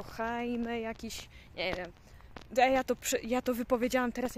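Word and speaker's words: Jaime: hiszpańsku wymawia to imię J się czyta jak h to nie jest Jamie tylko heime jakiś ja to wypowiedziałam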